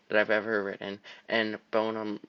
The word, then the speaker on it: bonum: This is Summum Bonum, my favorite poem that I've ever written, and bonum rhymes with poem, so it's like meant to be.